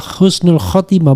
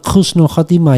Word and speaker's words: husnul khatimah: Namun banyak yang masih bingung mengenai penulisan pengucapan kata yang benar ee sebenarnya dan pengucapan yang tepat adalah husnul khatimah. Bukan khususnul khatimah ya.